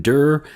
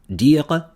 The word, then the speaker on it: Dir: So it looks like Dur, but in French it'd be like Claude Dire. I'm assuming it's like Dire. Would be the pronunciation for his last name.